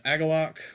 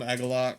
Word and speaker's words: Agalloch: I've heard him called different things. I call him Agalloch, so if that bothers you, I apologize, but that's just my personal, that's how I feel that it's pronounced.